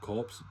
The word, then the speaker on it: corps: It's spelt corpse, but it's pronounced corps.